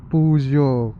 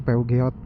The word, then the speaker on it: Peugeot: Puzon mereknya ini Puzo. Katanya kalau dibacanya gitu sih Puzo. Cuma kalau bahasa Indonesia PU Geot.